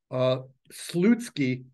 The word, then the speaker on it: Slutsky: So, really, I think it should be spelled like OU, just so people say it right, because it's kind of not a nice word.